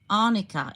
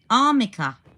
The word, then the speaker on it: arnica: hang on, am I pronouncing it wrong? Arnica, is it? Arnica. Oh, as in the stuff you rub onto sore joints. Arnica. Armica. Oh, Armica. Not Arnica. Armica. Okay, thank you.